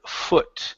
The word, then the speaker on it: foot: we have the word foot so instead of saying O Fu foot it's an uh sound okay um but seemed